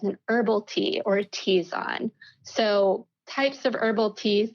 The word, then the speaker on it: tisane: That said, anything else that can be steeped in hot water is referred to as an herbal tea or a tisane.